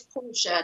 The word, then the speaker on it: Portia: Michelle, did I pronounce that right, or is it Portia? It's Portia, named after the Merchant of Venice, Tyler.